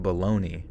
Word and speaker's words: bologna: baloney Hotel baloney bolognia oh it actually is bolognia why the hell do we pronounce a baloney what the that seems odd that's so funny it's an Italian word bologa but we what the hell how did we that up so so bad it's literally spelled balona and we pronounce it baloney man man what a